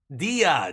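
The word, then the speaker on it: Día: the first word in that thing something dmos Dia Dia thank you day is Dia that's right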